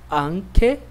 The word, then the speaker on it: anche: Depois nós temos CHE, CHI, que tem som de que, ok? Então, essas palavras são pronunciadas assim. Que, anche, que, chiesa.